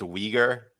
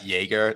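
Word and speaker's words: Uyghur: make sense for one it's pronounced weager weager Muslims not not Jagger they're not a drink I'm sorry I'm sorry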